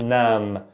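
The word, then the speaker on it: نعم: But the right pronunciation, nam with the ayn, nam versus nam.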